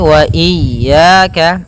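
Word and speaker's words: وإياك: Kembali lagi wa iyaka. Hati-hati jangan sampai memanjangkan ya atau tidak mentasydidkan ya.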